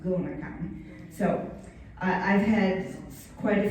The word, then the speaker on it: GonaCon: And a lot of people call it GonaCon, but just FYI, think of the word gonad or gonadotrophin, it's pronounced GonaCon.